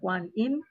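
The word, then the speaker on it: Guanyin: goddess uh one in no you pronounce Guam in so we call Guan Inn built in a very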